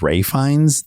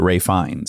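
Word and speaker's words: Ralph Fiennes: Ralph is rap ra Rafe strange English Quirk where something is pronounced entirely different than how it's spelled well his brother the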